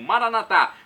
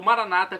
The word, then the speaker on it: Maranata: E agora do aramaico eu clamo Maranatá, como dizemos nós católicos, ou Maranata, como dizem nossos irmãos separados, os evangélicos ou protestantes, não importa, a pronúncia e o significado é o mesmo.